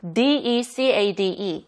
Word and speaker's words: decade: 영어를 잘하시는 분들도 D-E-C-A-D-E 이 10년을 decade라고 해야 되는데 이걸 decade라고 많이 하시더라고요. In the last decade. And for the last decade or so, decade가 아니라 decade.